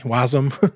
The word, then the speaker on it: Wasm: figure out web uh what's it called webassembly wasm as people like to pronounce it oh that's cool yeah and the